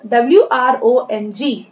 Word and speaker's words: wrong: Now WRONG. The spelling is beginning with the letter W, but the letter W is silent here. W जहाँ यहाँ पर silent है, इसे हम पढ़ेंगे R से, wrong, wrong।